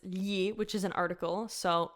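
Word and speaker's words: gli: okay I already said the first word its ye which is an article so yeah nee Molly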